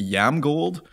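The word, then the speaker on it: IAMGOLD: gonna ask him is how do you pronounce I am gold it should be yam gold and so if you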